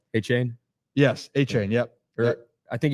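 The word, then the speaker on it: Achane: A-Chain? Yes, A-Chain, yep. I think he changed his name on the phonetically thing. It's a chain or A-Chain?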